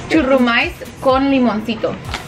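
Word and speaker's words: Churrumais con limoncito: So the right way to pronounce these are churumais con limoncito.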